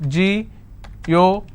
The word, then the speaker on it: geographical: Geographical. How many syllables do I have? Geographical. Now this fickle is coming up to 2 syllables, right? But this will still be combined as word ending, and this is the stress. Geographical.